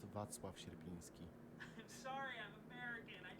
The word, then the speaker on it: Wacław Sierpiński: I don't know what Ruby just said, but it's pronounced Wacław Sierpiński.